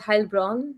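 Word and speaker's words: Heilbronn: Um but I it's called Hellbrun. So with Oh, I see. It's e I It's A usually pronounced.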